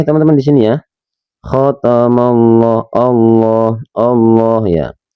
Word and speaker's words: Allah: Khatamallah, Allah, Allah ya. Ketika teman-teman melafadzkan lafadz Allah, ini harus dibacanya harus tebal karena ini dinamakan tafkhim. Allah, Allah, ya lafzul jalalah, tapi harus tebal.